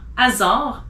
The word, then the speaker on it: hasard: You don't pronounce the H if it's in the beginning of a word. So as an example, hiver, heure, histoire, hasard, haricot, honte.